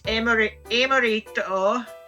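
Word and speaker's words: エムリット: Like Yuxi, we pronounce it as Yuxi because I suppose its Japanese name is actually pronounced as Yukushi. As for Mesprit, it's Emorito, and as for Azelf, it's Agunome.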